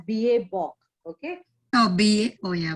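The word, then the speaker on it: BABOK: It is pronounced as BA Bok.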